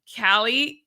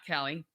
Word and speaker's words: Kaili: Kaili van Waveren. Not Kelly. Kaili. I know it's because her name is spelled that way, but it is Kaili van Waveren.